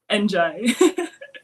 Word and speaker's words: Ndiaye: you say your name exactly last name andj and that's the part that always gets me